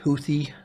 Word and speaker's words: Houthi: You're talking about, is Houthi, I believe is how you say it, right?